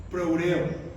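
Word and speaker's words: φρουρέω: En griego, más o menos se pronuncia proureo.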